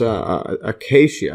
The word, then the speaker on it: acacia: Actually, it's pronounced acacia, I believe.